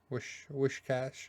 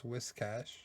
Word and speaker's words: Whiscash: Wishcash. It's Whiscash, just like it's Whismer.